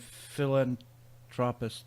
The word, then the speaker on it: philanthropist: I put too much emphasis on the phil. Philanthropist. Philanthropist sounds like somebody who prescribes drugs to you, or some kind of a prehistoric creature. Something to do with the plants. Yes, it's philanthropist. You put the "an." Wrong emphasis on the wrong syllable.